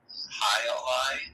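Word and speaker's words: Jai Alai: They have a beer that I see on shelves a lot called High Ally, like the sport. Sure. With a J.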